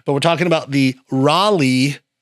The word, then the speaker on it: Raleigh: I think like 2005, I used to say Rally. Rally, rally, rally. And people like, that's not how you say it. You have to say Raleigh, man. You have to say Raleigh. So, that kind of stuck with me. So, all you northerners that are down here now, you can come to the Raleigh Oyster Fest and have a good time, man. And say it right.